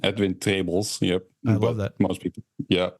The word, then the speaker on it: Edwin Trebels: say it correctly yeah that's the Dutch pronunciation edin tables yep love that most